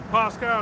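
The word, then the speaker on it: Πάσχα: So Pasca is how you say it in the Greek but that goes back to the Pak.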